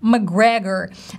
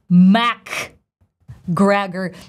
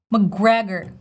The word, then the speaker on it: McGregor: A lot of people think that we gotta say Mac Gregor, but if you see in the transcription, it's very clear. It's just literally McGregor, McGregor, McGregor. So simple, stressing the second syllable, McGregor.